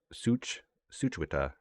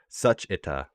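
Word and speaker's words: 슈취타: Let's remember the W silent. Suchwita, Suchwita, Suchita.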